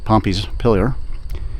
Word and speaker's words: Pompeys Pillar: pronounce it uh improper we always say Pompei like uh Roman town in Italy that was destroyed by vuia but there it is that's the pompy's pillar and unfortunately you're going